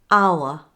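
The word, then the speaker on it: hour: me give you a list of exceptions where the H is silent in words there aren't many in British English listen and copy me honor honest our air now let's try some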